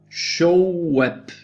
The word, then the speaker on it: Shoaib: Shoaib, that's how you pronounce it, like showing the web, Shoaib, but it's not written Shoaib, it's Shoaib, yeah?